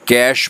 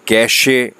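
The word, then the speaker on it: cache: देखें, इसको देखने में अगर हम देखें तो इसको ई है तो कैशे पढ़ा जाए, लेकिन ई जो है वो साइलेंट है, इसका जो प्रोनाउंसिएशन है, जो उसको बोलने का जो स्टाइल है वो है कैश मेमोरी।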